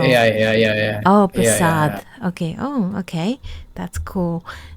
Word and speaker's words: Prasad: It's Prashad. Prasad. It's a D not T. Oh, Prasad like the the one that they gave in the temple. That's what I know. Yeah. Yeah. Yeah. Yeah. Oh, Prasad.